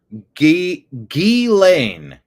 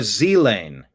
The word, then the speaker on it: Ghislaine: Ghislaine or Z-Lane with the GH or the ZH sounding soft, as in measure. Stress is on the second syllable.